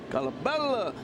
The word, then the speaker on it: Colabello: I said, okay, what do you want me to say? Colabello, you know, a little Italian in there.